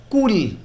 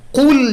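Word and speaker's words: قل: এখানে কুল শব্দে কফ উচ্চারণে যদি আমরা ভুল করি, মাখরাজ যদি ঠিক না হয়, কুল বলি, ধরেন কাফ দিয়ে বললাম কুল, তাহলে এর অর্থ দাঁড়ায় তুমি খাও। আর কুল যদি আমরা কফ দিয়ে বলি, আমাদের জিহ্বার শেষাংশ ব্যবহার করে নরম তালুতে লাগিয়ে, তাহলে এর অর্থ হবে তুমি বলো।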